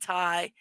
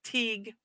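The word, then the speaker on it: Tighe: it um so oh you could pronounce it Tai but most but most go with Teague with the Teague pronunciation battle style gaca isn't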